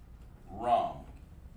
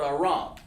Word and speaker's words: Aram: And that's called Aram, just exactly how it's pronounced. Aram. Okay? Just like that. Well, it's lucky. We'll do it lowercase here like we're supposed to. Aram. Okay? Aram. Not Aaron, but Aram.